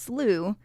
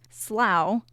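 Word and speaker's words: slough: h it is pronounced slooh in most of the US sometimes pronounced slow in New England and is the preferred British pronunciation we encourage you to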